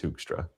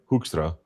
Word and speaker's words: Hoekstra: I mean I mean it would be more like Hoostra, but it's uh they they roll their Rs, so I can't do it as well as a lot of my relatives.